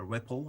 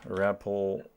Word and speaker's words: REPL: I wrote a REPL, a REPL, I think that's how you say it.